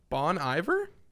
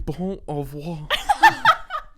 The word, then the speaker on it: Bon Iver: He was in Arcade Fire, Bon Iver.